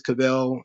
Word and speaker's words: Caviezel: Is Cavell? Are we sure about that? Because it's Caviezel. I'm not supposed to pronounce every letter and vowel in this thing. So I'm just going to do Cavell because that's what the TOD tells me. He tells me it's Cavell.